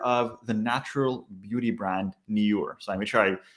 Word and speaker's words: Nyure: the natural beauty brand Nyure. So I made sure I hopefully pronouncing that right. So just like pure, pronounce it Nyure.